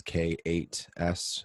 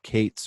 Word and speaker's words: K8s: You'll typically see people spell out Kubernetes as K8S. And so they'll pronounce it Kates or K8s or K8S. It's kind of up to you on that one.